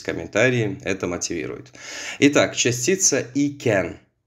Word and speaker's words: iken: Итак, частица «iken». Ее можно произносить раздельно, «iken» можно произносить слитно, «ken».